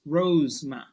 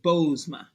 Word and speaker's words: Bozoma: saying it wrong and she would say rose rose Ma instead of bozma for whatever reason and